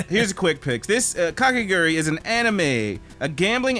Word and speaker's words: Kakegurui: KAKEGURUI.